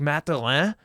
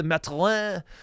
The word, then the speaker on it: Mathurin: I pronounce it the Canadian way, Mathurin.